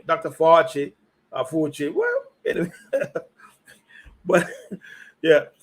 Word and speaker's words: Fauci: Fauci, yeah. Okay, why can't pronounce his name? Dr. Fauci, Fauci.